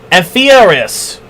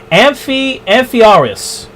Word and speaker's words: Amphiaraus: in the temple of Amphiaraus. I said that name way wrong. Let me pronounce that again. Amphiaraus.